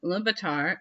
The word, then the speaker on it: Ulaanbaatar: in the heart of Ulaanbaatar, and I still am saying I'm emphasizing things wrong, just so you know. I think I need to shorten the last syllable if I was saying correctly.